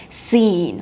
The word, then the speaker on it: scene: seen at the uh be careful with the pronunciation so you don't say or scan or something like that you say scen Okay scen practice your